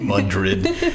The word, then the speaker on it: Madrid: Is it Madrid? Is that am I is that the local pronunciation?